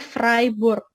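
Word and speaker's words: Freiburg: 2015 saya ke Jerman di kota freeboard Nah ini bacanya fribourg Khan Framework ribet terus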